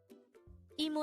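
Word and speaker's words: 이모: Aunt the term is emo if it is for paternal Aunt it is gomo IMO is pronounced as a two-syllable word the first syllable is e and the second syllable is Mo while KOMO is also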